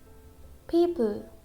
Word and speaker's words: people: People, people. So in this word, letter O is silent. We don't pronounce letter O.